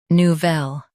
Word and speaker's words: Nouvelle: Emphasize vel with a soft nu. Nu. Vel. Nouvelle.